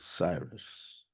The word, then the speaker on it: Sirius: the heavens and seeing Sirius as some of us pronounce it Cyrus in its constellation the